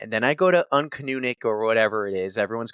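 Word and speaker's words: Uncanoonuc: And then I go to Uncanunic or whatever it is. Everyone's going to make fun of me. You said it right that time. Nope. Did I? You said it right. Uncanunic.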